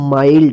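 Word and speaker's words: mild: आई उच्चारण हुआ है माइल्ड इसको मिल्ड मत पढ़िए ठीक है ना एम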